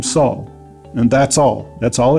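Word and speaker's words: שאול: When we first meet him, he is introduced to us as Saul, pronounced in the Hebrew Shaul in our English Bibles.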